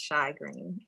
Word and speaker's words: Shai Green: You got it right the second time. It's Shai Green.